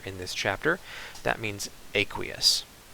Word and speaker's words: aqueous: chapter, that means aqueous, which some people pronounce aqueous, but I'm pretty sure aqueous is the correct way to pronounce it. But I won't hold it against you if you want to call it aqueous.